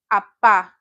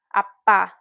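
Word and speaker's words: 아빠: But father is the A vowel, apa. Opa, apa.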